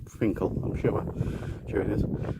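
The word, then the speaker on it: Finchale: going from Finkel Priory oh it's written Finch Hill where it's pronounced Finkel I'm sure there it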